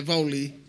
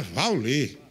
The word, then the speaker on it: Wally: É Vauli. Ah, é Vauli.